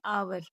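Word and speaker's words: hour: एच ओ यू आर इसमें H silent है तो इसलिए इसको बोलेंगे आवर अगला एच ओ एन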